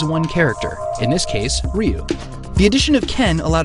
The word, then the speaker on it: Ryu: Well, Nishiyama's first name is Takashi, and the symbol for that first syllable can also be pronounced Ryu.